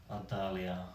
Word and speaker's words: 澳大利亚: Australia is very easy because we actually just use the pronunciation as a Chinese style. Yeah, so Australia, we say. Adalia.